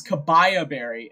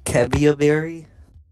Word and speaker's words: Kebia Berry: Did you just say Kabaya Berry? It's Kebia. How should I pronounce that? Isn't it Kebia Berry?